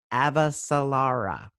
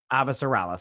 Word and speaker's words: Avasarala: he um talks to i'm gonna say her name wrong uh avasalara um chrissy that's what he calls her he calls her chrissy and then avasarala thank you marlon and then um